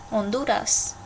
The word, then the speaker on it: Honduras: In Spanish, you never, ever, ever, ever, ever, ever, ever pronounce the H.